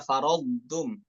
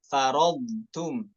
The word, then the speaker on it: فرضتم: Hati-hati taknya terbawa sifat tebal dari huruf bod. Farodtum ya, tidak tepat, namun farodtum ya, farodtum seperti itu ya.